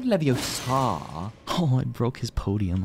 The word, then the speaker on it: Leviosa: your dick oh wow that's not an attack spell it's like it's Leviosa not not Leviosa oh I broke his Podium I'm so sorry